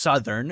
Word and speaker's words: Southern: r n is pronounced Southern and that's a short u sound that's the uh sound